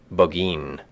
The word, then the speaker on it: Burgoyne: a famous fox hound named burgoyne he pronounced it bogeen which my informant used